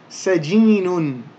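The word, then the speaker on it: سجين: And because this is the end of the word, or we're pronouncing the word in isolation, we don't need to pronounce those ending diacritical marks. So it would simply be sajin.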